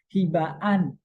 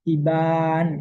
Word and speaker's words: Hibaan: Hibaan, hiba a ya, setelah b ada a, lalu ada an. Hibaan ada dua, tidak dibaca hiban gitu ya.